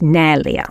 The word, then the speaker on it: Nelia: I'm Portuguese okay and it's actually pronounced nalia but nobody can say it right so I just tell everybody it's nellia it's beautiful thank you